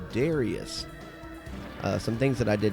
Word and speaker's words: Darius: Which I know I'm saying it wrong. The actual pronunciation, the actual Japanese pronunciation is Darius. But that is really hard for me to say after saying it Darius my whole life.